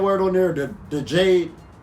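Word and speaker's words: Djed: on there too the Jade Jade yes all right it's spelled d je d like the G right add a chart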